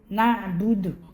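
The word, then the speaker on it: نَعْبُدُ: Iyyaka na'budu, iyyaka na'budu, na'budu. Huruf ain mesti dibaca dengan ain, jelas na'budu. Jangan sampai salah huruf na'budu bertukar dengan hamzah. Itu menjadi kesalahan besar, khata' jali.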